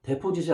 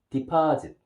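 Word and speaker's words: deposit: 발음 조심해야 합니다. 데포짓이 아니라 디파짓.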